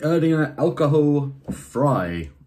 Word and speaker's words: Erdinger Alkoholfrei: The Erdinger Alkoholfrei, as they pronounce it in Germany.